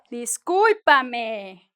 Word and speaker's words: discúlpame: Now, we're gonna go to disculpa and, oh, discúlpame, con acento en la U.